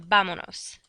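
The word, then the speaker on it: vámonos: drop the S, and it's going to become vamonos, because I drop the S, attach the nos, and we still need an accent on the penultimate syllable, not counting the pronoun.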